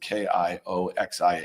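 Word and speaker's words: Kioxia: can't even pronounce it k i oxia a Um it's Kio Xia.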